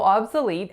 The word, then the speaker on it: obsolete: Most of my clients have a tendency to put it on the first, but it's actually on the third.